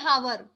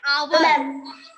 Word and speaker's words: hour: No ma'am, हावर नहीं कहते, हम क्या बोलते हैं? आवर। आवर बोलते हैं। क्यों आवर बोलते हैं? Because in this word the letter H is silent. H जो है वो साइलेंट है, इसको हम प्रोनाउंस नहीं करेंगे। ओके, तो इसको हम सिर्फ आवर बोलेंगे, ओ से रीड करेंगे, एच को रीड नहीं करेंगे।